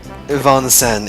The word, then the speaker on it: Vincennes: Vincennes, it's a French word. Vincent? Vincennes is a school for upper-class girls, isn't it? That's amazing. Don't be like Noble and pronounce it Vincennes, because once I realized it was a French word, that just ticked me off so much.